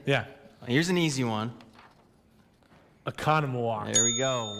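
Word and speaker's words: Oconomowoc: You're going to give me what we hope is the correct pronunciation. Gotcha. Are you ready? Yeah. Here's an easy one. Economowoc.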